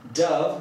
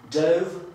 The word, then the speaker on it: dove: Jeżeli powiemy dove, będziemy mieli do czynienia z gołębiem, natomiast jeżeli powiemy dove, to będzie czas przeszły od dive, czyli nurkować.